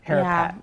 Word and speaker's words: Harapat: And did I pronounce the last name right? HARAPAT. HARAPAT, okay, yeah.